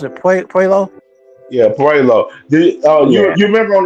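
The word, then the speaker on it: Puello: I know a little bit about Matias but not about um what you pronounce it po. Yeah, Puelo.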